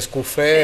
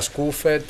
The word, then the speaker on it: Scuffet: chiama Barrette, dal francese Scuffet a Scuffet, eccetera. Sì. Quindi così come altri cognomi friulani, forse a livello nazionale non sanno che l'accento sui cognomi veneti e friulani cade sull'ultima vocale, non sulla prima, no?